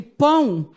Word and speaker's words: pão: tongo és um que quando a pronuncia pão o ar a vogal e o o passa a ser semivogal porque ele tem som de u E aí ninguém vai